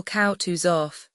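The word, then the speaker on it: Kutuzov: General Koutus off said Bulconsky speaking French and stressing the last syllable of the general's name like a Frenchman has been pleased to take me as an aid to camp.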